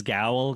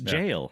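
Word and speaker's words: gaol: So it's jail is is how it's pronounced. It's it's where we get our word jail kind of from um just had to you're always having things where you're smarter than me.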